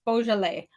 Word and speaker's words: Beaujolais: the the pinky mob color is Beaujolais it's Beaujolais so I'm not remember that at all I